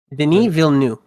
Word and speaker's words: Denis Villeneuve: I don't know Yeah, how to respect the pronounce French Canadians. a French Canadian's fucking name. Denis Villeneuve.